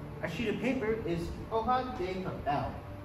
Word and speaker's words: hoja: In Spanish, a sheet of paper is hoja de papel. So the H, when it's at the beginning of a word, is pronounced silently, and the J, wherever it is always pronounced silently in Spanish.